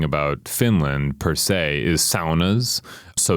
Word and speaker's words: sauna: don't know anything about Finland per se, is saunas. So saunas are a Finnish cultural artifact. Okay, well, hold on. We need to address the fact that how I would say it was sauna.